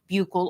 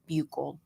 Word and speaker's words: buccal: I took the sample using buccal or buccal swabs, however you choose to pronounce it, because you guys always give me shit for that. My laboratory, we say buccal.